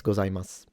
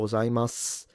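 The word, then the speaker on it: ございます: Do a lot of Japanese skip the pronunciation of the U at the end and read it gozaimasu? So arigatou gozaimasu with a s.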